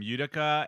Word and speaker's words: Utica: going to up the name utica and um did i say it right robbie